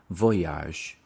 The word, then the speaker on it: voyage: on a space voyage voyage the stress for on the first syllable voyage and then we have